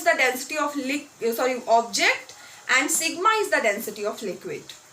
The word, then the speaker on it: sigma: Just for pronunciation, rho, sigma. Okay, so m is the mass of the body, rho is the density of the body.